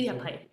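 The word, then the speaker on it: MediaPipe: Uh one last thing the the Google the the first thing you talked about the Google open how do you say media pipe Google media pipe media pipe this is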